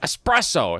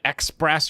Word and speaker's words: espresso: There's no X in espresso, but it gets mispronounced anyway.